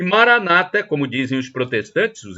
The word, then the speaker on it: Maranata: onipotente ele proverá e Maranata como dizem os protestantes dos Evangélicos com a tônica na penúltima sílaba o Maranata como dizem os é uma tônica na última sílaba é um termo do